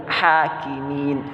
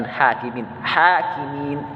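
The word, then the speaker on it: الحاكمين: Wasallam halo ah di ahkamil hakimin bukan hakim-hakim maka disinilah kita tahu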